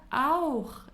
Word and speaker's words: auch: we say ich wohne auch in. Also means auch. It is very difficult to pronounce. It really takes some time. Auch.